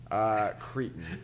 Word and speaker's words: Creighton: Cretan. All right, the Creighton Blue Jays Creighton- of the Big East yeah.